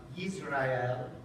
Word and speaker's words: Yisrael: It's the first letter in the Hebrew pronunciation of the people of Israel, the Jewish people, Yisrael.